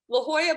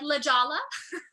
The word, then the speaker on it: La Jolla: do you say it la jolla la jolla playhouse yes there we go yeah i could never get that yeah i know we're like lijala yeah um yeah so